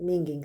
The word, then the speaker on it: minging: Sən minging sözündən istifadə edə bilərsən. Bu da əslində Şotland sözüdür. Və pis iyi gələn bir şeyi bildirmək üçün istifadə olunur. The letter G is pronounced the same way as sing.